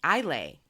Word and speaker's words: Islay: on the Isle of Islay Isle a she even put it phonetically god you love her